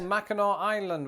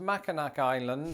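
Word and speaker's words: Mackinac Island: also worthy of your time like for example Mao Island which is not pronounced maak island or instead of Orlando Florida check out St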